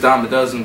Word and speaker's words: Dyme-A-Duzin: the easiest way because my name is it's dom a dozen but it's it's it's spelled funky so so you can